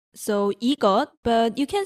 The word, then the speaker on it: 이것: 이 plus 컷, so 이것, but you can say 이거.